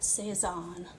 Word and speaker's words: Cézanne: He was French, that's why we say his name like that, Cézanne.